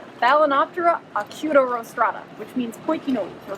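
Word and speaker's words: Balaenoptera acutorostrata: it it's really cool it rhymes with hakuna matata what balinoptera acuto rostrata which means pointy nose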